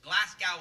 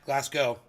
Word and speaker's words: Glasgow: in Scotland as this Glasgow Scotland as most of you know that's not the way you pronounce that Glasgow the W is silent it's a mistake that